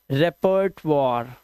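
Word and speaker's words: repertoire: रेपर्ट वॉर। रेपर्ट वॉर और last का ई silent.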